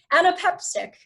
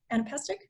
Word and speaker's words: anapestic: Anapeptic, yes. Anapestic? Yes. that is definitely it. Thank you, Rachel.